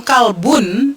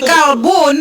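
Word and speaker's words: كلب: Kalau kalbun itu dia pakai K, kalau kolbun itu pakai kop, benar nggak? Betul. Iya, jadi kalbun itu K. Jadi gini, kalbun dan kolbun memiliki kemiripan dalam penyebutan, namun sangat jauh berbeda dalam bahasa, dalam makna.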